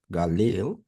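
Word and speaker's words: גליל: one presented here 1551 it's pronounced as Galil or Galil and it also has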